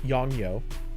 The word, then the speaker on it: Yongnuo: I don't remember the model number, but yeah, it was definitely Yongyo. Which, if I remember, is spelled YONGNUO, I think.